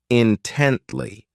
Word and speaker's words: intently: ridiculous next is intently this adverb has three syllables and the stress is on that second syllable intently so this word means that